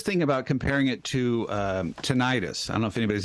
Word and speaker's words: tinnitus: And I was thinking about comparing it to tinnitus. I don't know if anybody's ever had tinnitus, or tinnitus, for those who like to correct people's pronunciation of things.